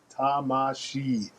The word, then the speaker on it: Tamashii: Do a little bit more research, How do I pronounce this Japanese word? Tamashii.